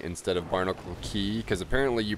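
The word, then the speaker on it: Barnacle Cay: chat's really mad at me cuz I'm saying Barnacle K instead of Barnacle key cuz apparently you pronounce it Barnacle key and they're like that's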